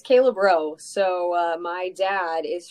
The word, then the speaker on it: Braud: on yeah it's Kayla bro so uh my dad is from Baton Rouge Louisiana and the AUD is another version of the eaux so it is you don't pronounce the d and it's like you